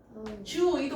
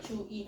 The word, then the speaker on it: 주의: 모험이요 모험인데이 돼요 돼 주의도 마찬가지잖아 주의 주이 다 되잖아 주의 사랑 1번 글쓰니가 가진 독서에 대한 견해로 적절하지 않은게 뭐냐 그랬어 본문에 없었던 거 몇 번이니 1번 그렇죠.